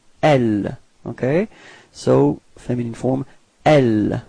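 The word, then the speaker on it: elles: So masculine form is e, alright, final X is not pronounced, e, repeat, e, okay, and then feminine form, elle, final S is not pronounced, elle, repeat, elle, okay.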